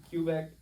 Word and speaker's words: Quebec: Quebec? As long as you don't pronounce it Quebec, you're Quebec? fine. So don't pronounce it Quebec. No, because that's just wrong.